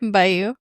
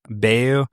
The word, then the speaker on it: Bayou: Bayou. Bayou.